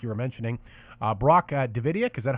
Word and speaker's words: Davidiak: And like you were mentioning, Brock Davidiak, is that how I pronounce his name?